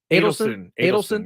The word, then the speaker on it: Adelson: He is selling a huge portion, a majority, and it's in advanced discussions to the how do you pronounce this? Is it I believe Adelson? it's Adelson, yeah.